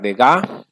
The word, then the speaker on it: Degas: renoir none paul cézanne edgar degas si no se pronuncia la s eduard manet camille pissarro